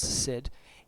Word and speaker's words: Cid: fact it's written spelled C I D and pronounce said and under this name because we don't I